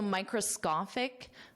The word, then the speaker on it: microscopic: So microscopic, this is a common medical term. Microscopic, and notice that pronunciation because this SCO is pronounced as SCA.